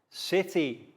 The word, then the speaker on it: city: time first of all soft c sounds city dance ice chance notice how the c sounds like s and now for soft